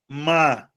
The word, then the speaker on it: Mábia: Mábia. Beleza? Então você percebe que a penúltima sílaba, tanto em Lúcia quanto em Mábia, são as minhas sílabas tônicas. Então eu vou dizer que essas palavras são paroxítonas, tá?